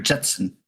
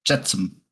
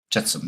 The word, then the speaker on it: jetsam: Jetsam or Jetson? Jetsam. Jetsam. I think that's the right way to say it.